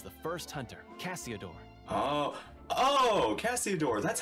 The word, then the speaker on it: Cassiodor: Oh, Cassiodor.